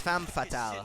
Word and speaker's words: femme fatale: That's not how you pronounce that. It's femme fatale Me off.